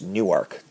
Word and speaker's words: Newark: And it is pronounced Newark.